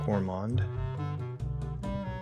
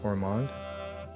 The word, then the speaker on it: gourmand: gourmand. 그때 D가 묵음이 아닌 것 같아요. 아마도 gourmand인 것 같은데 gourmand one who is